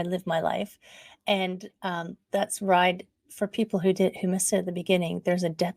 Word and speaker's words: Wride: There's a W at the beginning of ride. So it does kind of rhyme with thrive, ride, but you can rearrange the letters to say weird.